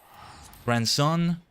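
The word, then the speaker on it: Granson: Grandson, I feel like I want to say different from grandson because it sounds like the word grandson. There's no D in the middle.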